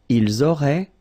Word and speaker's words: ils auraient: Ils auraient, so liaison here. Elles auraient. And then look, if you've got A-I-E-N-T, then phonetically it goes like aurait.